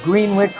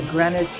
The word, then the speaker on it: Greenwich: It's kind of like we say Greenwich, Rhode Island, and they say Greenwich, England, and Greenwich, Connecticut. It just kind of works out that way.